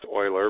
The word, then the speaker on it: Euler: his last name doesn't look like it'd be pronounced Euler but it is he's a swiss swiss mathematician